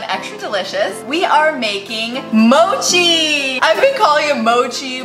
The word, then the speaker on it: mochi: onto google and you google it and it's mochi so I've been saying it right fifty percent